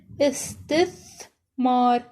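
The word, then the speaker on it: استثمار: The tha here is in the beginning, pronounced as fi, thiyab. Tha with sukoon is th. Tha with sukoon is th. Example, istithmar.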